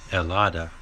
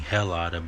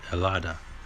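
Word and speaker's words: helado: cream in Spanish is elada or you could be saying hellada but it's the H is silent really so when people are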